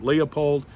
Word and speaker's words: Leupold: is a nice scope if you get a loopholed scope some people pronounce it leopold one of the things